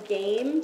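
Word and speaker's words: Gaiam: and um that is from game g-a-i-a-m i think that's how i'm saying i'm saying it right it's the ultimate core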